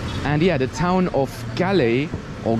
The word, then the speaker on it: Galle: for Speed all right guys welcome to gal that is actually how it is pronounced because I heard the bus driver saying